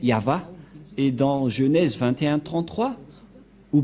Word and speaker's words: Yahvah: Yod c'est l'alphabet hébreu qui est prononcé yava et dans Genèse 2133